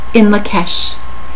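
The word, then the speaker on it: In Lak'ech: And what it is, it's pronounced in Lakesh.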